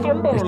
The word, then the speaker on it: Stromboli: Stromboli. Oh my gosh. Actually, it'd be pronounced Stromboli.